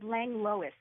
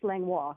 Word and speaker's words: Langlois: yes is it Lisa langlois or Langille so I always called her my house it's lengua language she says Lang Louis quickly French langlois so that the 2nd l isn't pronounced oh man I've been